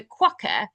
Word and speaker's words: quokka: But he looks like he's a quokka turned into Oh, a human.